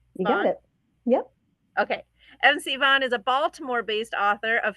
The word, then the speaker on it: M. C. Vaughan: I think I pronounced that correctly. Correct? Is that correct? You got it. Yep. Okay. MC Vaughan is a Baltimore-based author of humorous contemporary romance.